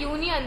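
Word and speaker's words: union: जब हम बोलते हैं ना यूनियन, तो वाई का प्रोनाउंसिएशन आता है। वैसे ही यूनिवर्सिटी, तो यूनिवर्सिटी भी जब हम बोलते हैं तो वाई का प्रोनाउंसिएशन आता है, यूनिवर्सिटी, इस तरीके से यूनिवर्सिटी आता है।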